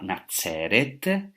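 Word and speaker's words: נצרת: Hoy sabemos que Nazaret en hebreo se pronunciaba Nazeret, que viene de la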